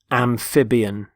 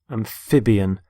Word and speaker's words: amphibian: first word is amphibian amphibian notice the stress on the middle syllable amphib amphibian they're animals such as